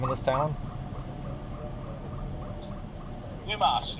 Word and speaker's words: Dumas: Dumas, not dumbass.